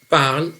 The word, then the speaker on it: parlent: raconte une histoire ent attention parle avec eux parlent avec es parle avec le heat et se prononce de la même façon c'est par leur orthographe